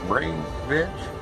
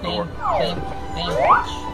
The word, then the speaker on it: Bainbridge: Now, how's it pronounced? Brainbridge? The brain? Bainbridge. Bainbridge. Okay. I forgot where the R was.